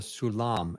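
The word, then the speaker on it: סולם: of fireman's ladder yeah and that's called a sulam s u l mam yes aulam so um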